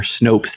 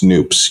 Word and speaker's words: Snopes: U you you said that you've heard it pronounced snoops you heard someone pronounce Snopes incorrectly you didn't hear it because you don't